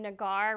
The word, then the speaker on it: Nagar: I'm Nagar, rhymes with guitar, a little bit of a strange name for you.